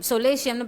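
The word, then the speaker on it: solatium: அந்த ஃபர்ஸ்ட் வேர்டே பாருங்கள், அது சொலேசியம்னு ப்ரொனவுன்ஸ் பண்ணும். டி வந்து அந்த இடத்துல சைலண்ட்.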